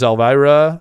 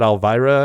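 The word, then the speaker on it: Elwira: so this one is Elvira I think she pronounces it Alvira I assume e-l-w-i-r-a but I think the W is a v the way I've heard it a few times uh polakowska all right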